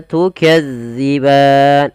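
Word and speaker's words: تكذبان: huruf dalal hati-hati ya teman-teman jangan sampai kita membacanya panjang Maaf bukan panjang menggantinya dengan huruf Zai contoh Bagaimana tukazziban Nah itu diganti Padahal dia tidak boleh yang betul Bagaimana tukadziban bagaimana cara membacanya yaitu ujung lidah kita agar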